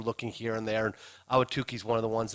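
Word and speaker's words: Ahwatukee: that that number one they can never pronounce it. They say you know that you know Atuki or it's part of Phoenix but we like Awatuki and and and it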